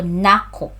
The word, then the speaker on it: Nako: Pronunciation, the stress is on the second syllable. So, Nako.